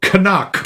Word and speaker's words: Knock: It's not Knock, it's Canuck. They make a point of pronouncing that, hitting that hard K.